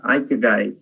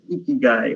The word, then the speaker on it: ikigai: So the word I'm talking about is called ikigai. That's the right pronunciation. And I was pronouncing it as ikigai all these years without knowing.